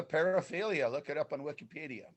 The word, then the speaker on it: paraphilia: have an image well i thought that there was multiple syllables it's a fancy greek word wow okay we i don't know if anyone's going to paraphila it's a paraphilia look it up on